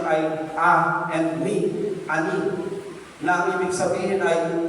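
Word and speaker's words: עני: written ng salitang humble sa Hebrew na ang pronunciation ay and me, ani, na ang ibig sabihin ay poor, afflicted, lowly, needy, bowed down, and oppressed, and dependent.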